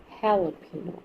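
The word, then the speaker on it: jalapeño: tortillas this is jalo jalapeno I know it starts with j but basically this is a Spanish word and Spanish people pronounce j as H right this is hting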